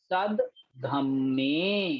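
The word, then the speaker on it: सद्धम्मे: दयाई, सब धम्मे, दा आधा है और उसके नीचे जो धा है वो पूरा वर्ण है, तो सद, सा और दा एक साथ पढ़े और धम्मे को अलग पढ़ना है।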